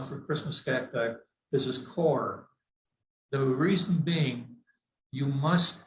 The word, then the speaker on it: coir: They're using a lot of quar. I can't pronounce that with that. Core. C-O-I. Well, what's the I doing there if you're going to say core?